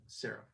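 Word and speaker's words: sareph: And serif in Hebrew is, well, when we transliterate it into English, is S-A-R-E-P-H, serif. Yep. But again, you wouldn't see it, you wouldn't hear it any different, though it's spelled a little different.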